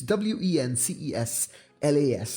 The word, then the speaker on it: Wenceslas: their song Good King Wenceslas or something. I can't pronounce that. Sorry, guys. It's Wenceslas. That's how you pronounce it.